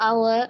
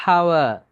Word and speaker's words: hour: Okay, சிலவங்க pronounce பண்ணும்போது அந்த ஹெச் சவுண்டை அழுத்தி ஹானஸ்டி அப்படி ப்ரொனவுன்ஸ் பண்ணுறாங்க. That's wrong. இதை ப்ரொனவுன்ஸ் பண்ண போக்கில் ஹவர் அண்ட் ஹெச் சவுண்டை ப்ரொனவுன்ஸ் பண்ணாங்க. It's wrong. Honourable and H sound pronounce பண்ணுறாங்க. ராங். இப்படி வரக்கூடிய இந்த வேர்ட்ஸில் வரக்கூடிய ஹெச் சவுண்ட் வந்து சைலண்ட்.